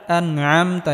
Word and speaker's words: أنعمت: সিরাতাল্লাযীনা আনআমতা, এখানে আইন গলার মধ্যে হালকা চাপ দিয়ে উচ্চারণ করতে হবে।